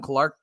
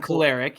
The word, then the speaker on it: Kolarek: Strikes out the side with his fastball, and then Adam Clark. Now I'm messing myself up. Adam Kolarek, Kolarek, thank you.